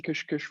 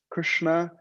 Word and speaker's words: Krishna: It's not that we're saying Kish Kish Ram Ram, it's Krishna, Rama, and of course, Hare.